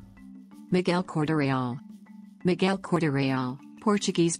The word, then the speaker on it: Miguel Corte-Real: Miguel Cordarreal. Miguel Cordarreal, Portuguese pronunciation, circa 1448 to 1502, was a Portuguese explorer who charted about 600 miles of the coast of Labrador.